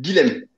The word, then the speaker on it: Guilhem: Donc, je fais rarement des vidéos ces derniers temps, mais Guillaume a sorti, Guillaume ou c'est Guilhem, pardon, excuse-moi. Ouais, ça s'écrit Euh, Guilhem, c'est Guilhem, pas de souci.